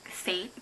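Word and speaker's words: Sainte: So the next song or artist that I have is pronounced, I think, Saint, but it's spelled S-A-I-N-T-E, and it's the spin-off band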